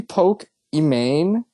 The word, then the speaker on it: Pokimane: It's supposed to be Poke Imane? Because her name's Imane? Yeah, that's how they say it. Pokimane.